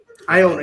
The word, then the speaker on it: Iona: I think that's how you say it. It's like Iowa, but replace the W with the N. Iona.